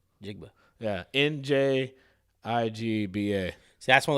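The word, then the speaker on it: Njigba: forgot who it was jackson smith i can't pronounce the last name we'll start with jigba jigba yeah n-j-i-g-b-a see that's one of those cool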